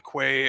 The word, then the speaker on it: Quay: old Krusty wizard at the end of The Quay or key whatever you want to call it I can never pronounce it just like yeah I know I know it's key but my life life of mispronouncing that word yes like um but anyways